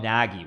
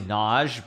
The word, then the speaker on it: Nagy: And people would call him, like, they would say, they would call him Nagy, which of course is not how you pronounce it. It's obviously Naj, but anyway, yeah, we like to mess up names and their pronunciations.